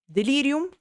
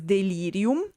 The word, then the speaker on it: delirium: So in this case we and it is also very good pronounce because delirium because the e and the i the first two are long while the last i is short and in fact if